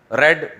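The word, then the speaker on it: read: रीड आर इ ए डी है। Second form क्या है? रेड। लेकिन लिखा क्या जाएगा? आर ई ए D third form क्या है? आर इ ए डी पढ़ा क्या जाएगा? रीड रेड रेड रट्टा लगा के याद करते हैं ना?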